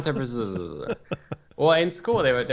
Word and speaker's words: Debreczeni: Yeah, so it's like Debreczeni.